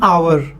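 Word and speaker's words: hour: एन आवर, एच is also silent in आवर।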